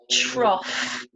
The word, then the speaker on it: trough: And finally, ough can be pronounced like the sound off, as in cough, cough, and trough.